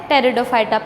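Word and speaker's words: Pteridophyta: टेरिडोफाइटा। P silent है यहाँ पर, टेरिडोफाइटा हम इसको सिंपली कह सकते हैं।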